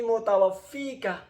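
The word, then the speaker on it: مُتَوَفِّيكَ: Idz qalallahu ya Isa inni mutawaffika wa rafi'uka ilayya. Jadi mutawaffika. Idz qala Allahu ya Isa inni, ya gitu cara bacanya Pak ya. Mutawaffika. Panjang pendeknya itu harus pas. Karena lain nanti artinya.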